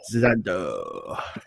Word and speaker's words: Xandaux: Xandaux.